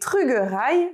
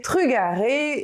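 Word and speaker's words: trugarez: Pour remercier, le mot le plus connu est trugerai, que je prononce ainsi à Groix, mais ailleurs on pourra aussi évidemment le prononcer trugaré et même trugares.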